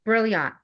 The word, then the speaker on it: Brilliant: Sure. It's brilliant. So, like you're brilliant.